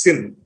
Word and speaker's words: CIN: But it's pronounced as SIN, actually. I don't know why. C is pronounced soft as S, sir.